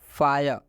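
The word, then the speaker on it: fire: आर ई आया है, तो रूल बोला है कि जब आई के बाद से आर ई आता है तो इस आई का उच्चारण आई हो जाता है।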